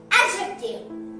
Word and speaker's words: adjective: We have to pronounce it adjective. That means in this D is silent.